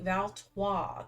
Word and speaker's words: Valtais: Valtais. The S is silent.